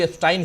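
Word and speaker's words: Epstein: है कि जेफरी एस्टीन हालांकि मिस्टर एफस्टाइन कह रहे थे वो ओरिजिनली नाम उच्चारण भी एस्टाइन ही करना चाहिए लेकिनकि अपने यहां एस्टीन एफस्टीन कहा जा रहा है तो मैं भी वही कह रहा हूं तो जेफरी एफस्टीन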